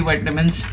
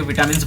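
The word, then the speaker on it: vitamin: विटामिन है या विटामिन है पता नहीं उसको कैसे प्रोनाउंस करते हैं, बट इंडिया में विटामिन बोलते हैं, बाहर वाइटामिन बोलते हैं, जो भी हो आप समझ गए होंगे।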